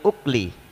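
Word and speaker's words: أُكُل: Al-imsaku anil ukli bidhammil hamzati. Nah, kemarin saya baca akli juga, ternyata lihat khasiyahnya keliru kita bacanya.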